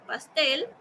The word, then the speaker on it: pastel: Por ejemplo, en pastel. ¿Cuál es la sílaba que estoy pronunciando más fuerte? La T. Tel. Muy bien. Entonces la voy a marcar con verde. Pastel. Es la última.